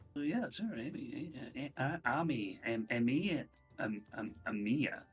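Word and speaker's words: Amie: sure am Amy am Amia Amy a m i e i i pronounce that Ami Ami it's AI it's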